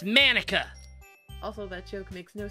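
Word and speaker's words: Monika: it's writing your name that's not how you say my name at all it's manika also that joke makes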